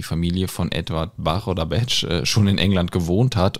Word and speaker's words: Bach: dem Schreiben sie dann dass seine Familie hier den Namen eigentlich big ausgesprochen hätte wird immer komplizierter super jetzt haben wir noch mehr Aussprache Möglichkeiten also B Bach Gottes will aber jetzt kommt die große Auflösung während seiner Studienzeit haben seine Studienkollegen seinen Namen falsch ausgesprochen die haben ihn nämlich nicht beage genannt sondern BCH so und dabei ist er dann geblieben und war dann Zeit Lebens in der Medizin als Edward BCH bekannt bedeutet also wenn wir